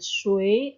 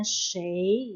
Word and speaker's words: 谁: Dalam bahasa Mandarin bacanya boleh shui atau bacanya shei ya. Dua-duanya boleh dibaca ya karena artinya sama, artinya siapa.